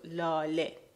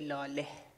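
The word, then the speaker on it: لاله: Now the word lale technically ends in he, but the he is not pronounced. The he is mute, so lale. You don't say lale.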